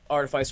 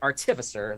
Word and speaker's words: artificer: and oh you know his artifice or Magic or sorry artificer that is the correct way to say it I apologize uh process